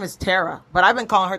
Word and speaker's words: Tara: Her name is Tara, but I've been calling her Tara for years. Her name is Tara. See? No, her real name is Tara. Tara?